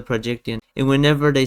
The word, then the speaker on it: Projecttian: So they go the projection immediately their head corrects it to the projection. like something subconsciously is forcing them to forget that it's pronounced the projectian.